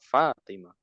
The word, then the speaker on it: فاطمة: Kalau ada yang panjang ditekan di yang panjang. Contoh Fatimah Ummu Kulthum di yang panjang ditekan.